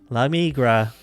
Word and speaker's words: La Migra: La Migra. You don't have to roll your R if you don't want to.